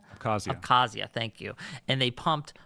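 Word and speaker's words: Abkhazia: in Georgia they put and they took an interine conflict that was in South Oessa and um I can't pronounce oh abcasia abcazia thank you and they pumped money into them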